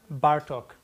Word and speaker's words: Bartók: it this way it's it's the Hungarian language they always acts in the first syllable béla bartók Zoltan Kodaly Tarara it's